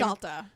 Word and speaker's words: Salter: Salta.